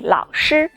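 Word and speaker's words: 老师: together to pronounce them the first one ah that's similar to shu in the word shy yes from now on you can call me lao shi lao shi means teacher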